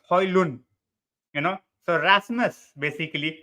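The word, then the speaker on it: Højlund: section go after it it's Holland okay it's not highland highland it's Holly loon you know so Rasmus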